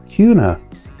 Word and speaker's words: Kuna: Idaho has some funny words like Kuna, pronounced Cuna, Moscow, Owyhee County and